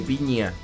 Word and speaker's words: Pigna: Y la entrevista es al historiador argentino, que es un salado, se llama Felipe Piña. Pigna se escribe.